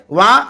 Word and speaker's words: vingt: तो यहाँ एक गौर करने की बात यह है कि जब यदि हम 20 सीख लेते हैं, जिसको VINGT फ्रेंच में स्पेलिंग है, उच्चारण वहाँ बोला जाता है, तो उससे क्या होता है 20 और 30 यहाँ सीख लिए।